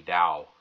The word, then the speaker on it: Tao: I am going to talk about dosm now da so what is da da is pronounced the same whether you spell it with a t or a d some people will call